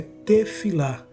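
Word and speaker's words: תפילה: no hebraico oração tem um signif a a pronúncia tefilá cujo significado é tefilá significa ligado com Deus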